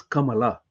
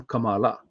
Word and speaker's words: Kamala: Nothing wrong about her name being Kamala, but she doesn't call herself Kamala the way it ought to be pronounced, whether you are a Tamilian or a Sanskrit knowing Indian. It is Kamala.